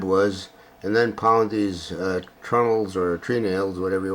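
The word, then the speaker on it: treenail: Now in this particular case, they were called trunnels or tree nails. The word is spelled T-R-E-E, tree nails, but I think it's referred to more as trunnels.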